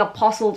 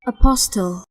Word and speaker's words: apostille: oh my gosh guys the whole time I've been pronouncing that word wrong I've been saying apostles my entire life apostille ah your degree and